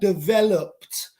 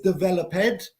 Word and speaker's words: developed: Yeah, developed. So, Armando, good example. Yeah, developed. No es developed. No existe developed. Developed. Es como P-D. Quitamos el E con la pronunciación.